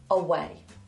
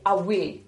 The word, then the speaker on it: away: Okay, you might have learned to pronounce this word away. Away. However, a Geordie person, please forgive me if you are Geordie, I'll try my best, might say awe, awe. It's completely different sound. It's like a different word.